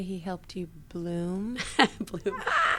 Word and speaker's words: Blum: Bloom. Yeah. Well, it's spelled Blum, B-L-U-M.